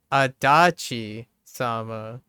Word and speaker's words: Adachi-sama: Yeah, they said Adachi-sama with the emphasis on the second syllable, right? Instead of Adachi.